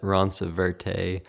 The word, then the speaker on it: Roncevert: How do you pronounce it? Yeah, we get all sorts of things. Roncrevet, Ronceverte, but we just say Roncevert.